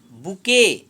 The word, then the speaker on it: bouquet: I must make a बुके। अब इसमें देखिए BOUQUET, इसको हम बुके पढ़ेंगे। टी यहाँ साइलेंट हो जा रहा है।